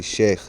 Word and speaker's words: sheikh: you've heard the term chic before proper pronunciation for sh sheik is actually sheikh so and sheik just